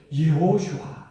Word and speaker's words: 예호슈아: 하는 것이죠 그런데이 예수를 구약에서는 뭐라고 반 발음을 했습니까 여호수아 구리 식으로 하면은 여호수아 여호수아 여호수아 그런데 이제에 히브리 바람에 각각 한다면은 예호슈아 여호수아 그 예는 여호와를 나타내는 것이에요